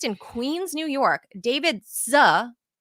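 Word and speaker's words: Sze: The bank allowed one criminal based in Queens, New York, David Z, I think it's pronounced S-Z-E, S-Z-E, Z, to move more than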